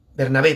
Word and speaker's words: Bernabé: Y ahorita pues vamos a tratar de hacer contacto con esta página, Bernabé Gómez Castillo. Bernabé, perdón, lleva acento en la E.